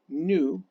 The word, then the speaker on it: nu: Nu, I'll put it as, let me go ahead and get rid of that here. Nu, you pronounce it N-U, nu, is frequency.